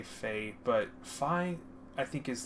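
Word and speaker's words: Fai: lot of people say fae but phi i think is the technical pronunciation because phi is how it's pronounced the way it's spelled i think personally and also phi like fire i don't know i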